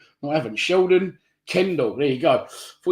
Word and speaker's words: Sheldon Cundle: Sheldon, what have I said his name wrong? No, I haven't. Sheldon Cundle.